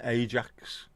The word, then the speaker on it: Ajax: Yeah, we used to have Vim and Ajax. Never pronounced it as Ajax, it was always Ajax.